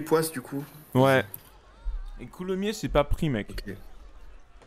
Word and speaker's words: Coulommiers: région de coulomier ah ça s'écrit avec un S ouais je savais mais il y a une dinguerie genre c'est mn c'est coulomnier non il y a pas